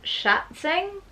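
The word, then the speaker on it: Schätzing: Now this is written by Frank Schatzing, is how you pronounce that surname. I think it's like German or something.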